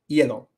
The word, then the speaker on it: hielo: Another one is hielo. It's not hielo, pero it's hielo for ice.